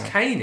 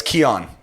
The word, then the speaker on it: Keon: to pronounce it because he spells it uh c-a-i-n yeah that's kane in it yeah it's keon it's keon he came and